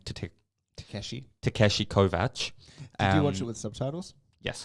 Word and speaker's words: Kovacs: to take Takeshi Takeshi Kovach and with subtitles yes you know I thought it would be yeah I thought it'd be Kovacs but again that's just how it's spelt yeah but yet nonetheless